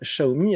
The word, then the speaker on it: Xiaomi: sur ce petit smartphone de la marque chinoise chahoumi alors pour celles et ceux qui ne savent pas ça ne se prononcent pas xi a omis ça se prononce